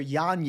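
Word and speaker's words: Yanez: order we'll start with Adrien janz first or yanes as he likes it pronounced now he should kill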